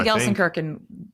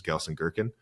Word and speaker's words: Gelsenkirchen: He came to Gelsenkirchen I think that's how you say it.